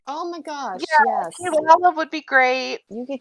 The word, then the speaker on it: Kirara: It's Kilala. It's spelled with the R's, but it's pronounced Kilala.